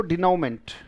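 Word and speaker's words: denouement: मेंट भी कह सकते हो, मंट भी कह सकते हो, मर्जी आपकी. मंट ब्रिटिश है तो मेंट आपका अमेरिकन हो जाएगा. बोले डिनोमेंट का मतलब सबसे अगर कॉमन शब्द लेना चाहो तो एंड होगा बेटा.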